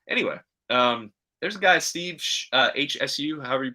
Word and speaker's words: Hsu: So anyway, there's a guy, Steve HSU, however you pronounce his last name. I think it's Shu, that has some interesting ideas about genius, where it gets a little bit into the genes.